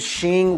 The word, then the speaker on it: Xin: said should we give Shing which is that's how you pronounce it in Chinese because the X is SH should we give Shing